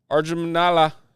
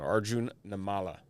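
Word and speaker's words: Arjun Nimmala: Arjunala silver for the Blue Jays. Butchered that name. Arjun Namala. There we go.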